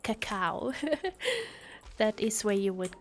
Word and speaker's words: cacao: Cocoa. Yeah. Cacao. Sorry, that's how you say it. Cacao.